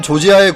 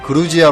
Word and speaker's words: 조지아: 어머님을 주장하는 학자들도 있습니다 한편 조지아의 국명은 원래 러시아식 발음인 그루지아 로 블루스가 2008년의 영토 문제를 놓고 러시아와 무력충돌 하기도 했던 조지아 가 자국의 명칭을 러시아식 발음이 아닌 영어식 빠른 조지아 라 불러 질 것을 공식적으로 요청했고 이에 따라 현재 한국을 비롯한 많은 국가들이 조지아 라는 명칭을 사용하고 있습니다 또한 조지아 인들은 자국을 4